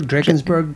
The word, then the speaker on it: Drakensberg: help me with this how do you say that uh the drakensberg drakensberg traverse that's correct yes um so drakensberg